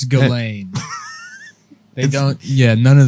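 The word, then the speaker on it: Ghislaine: ] yeah yeah it's glade they don't yeah none of them you don't pronounce any of the letters does she does she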